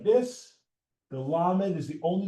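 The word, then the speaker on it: למד: So if you think the tallest letter, you think the word ladder. Ladder, la la la la la. Lamed, tallest letter in the Hebrew alphabet. Lamed, tallest letter in the Hebrew alphabet. Lamed, lamed, lamed.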